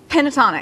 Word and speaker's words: Pentatonix: I'm really bad at mispronouncing name. Pentatonix.